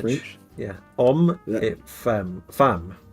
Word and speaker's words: femme: Femme. Pronounced femme.